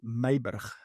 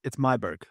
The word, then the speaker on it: Myburgh: In Afrikaans, you pronounce it Myburgh. Wow. Yeah. That's not going to happen. But in English, it's Myburgh, which is easy.